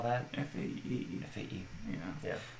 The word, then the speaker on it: Fae: F-A-E. F-A-E. Yeah. So you say Fae, basically but fairy.